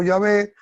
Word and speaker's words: Yahvé: hay una gran discusión hay uno dice que se debe Llamar solo Ya ve que Jehová no se debe pronunciar y otros que sí que no Y la verdad Los dos nombres vienen del mismo que se llama tetragramatón que son las cuatro consonantes que no se podían pronunciar y por eso les pusieron las vocales y ahora podemos pronunciarlas tanto como ya ves como como Jehová verdad este nombre Ya